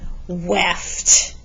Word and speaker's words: weft: the vertical strings are called weft rhymes with the word left like left and right okay so your weft